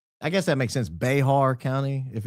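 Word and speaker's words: Bexar: Oh, Beexar is pronounced Bear County.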